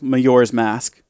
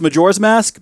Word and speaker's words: Majora's Mask: my life obviously I picked up the sequel mayor's mask it's actually pronounced Majora's Mask but I like to make the J sounds